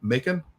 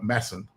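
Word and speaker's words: Macan: But anyway, so with Eddie Edmund Vukovic, his writer, I always pronounce as Darko Macon or something like that. It's like Darko Masson. I was like, never would have gotten that by looking at it.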